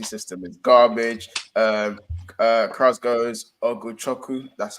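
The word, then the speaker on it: Ugochukwu: Krause goes Oguchoku.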